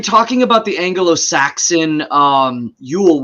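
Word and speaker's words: geol: about the Anglo-Saxon um Yule which is spelled g-e-o-l and the g is actually a y sound so it's it's um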